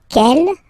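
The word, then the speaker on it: quelle: And then the feminine form is written like that. C l L but it's pronounced like the masculine form. Kell at the masculine, kel at the feminine.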